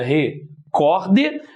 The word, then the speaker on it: recorde: Nós temos aqui a palavra também paroxítona, separação seria recorde. Aqui, o cor é a sílaba mais forte.